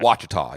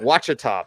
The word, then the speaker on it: Ouachita: How do you pronounce that? Ouachita, yeah. Ouachita Baptist, cornerback there.